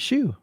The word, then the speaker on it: HSU: Yeah, that's what I said. Shoe. That's how you pronounce it. Shoe.